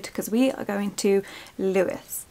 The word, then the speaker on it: Lewes: we are going to louis everyone keeps telling me it's pronounced lewis i'll put it up here in case i'm wrong but that's the pronunciation we're going with because i've said lose and people keep correcting